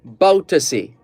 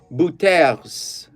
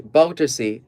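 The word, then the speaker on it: Bouterse: surname is b-o-u-t-e-r-s-e now on the face of it it looks French and it could be buters but it's properly pronounced so prosecution in Suriname wants ex-president Desi baltusi jailed for 1982 killings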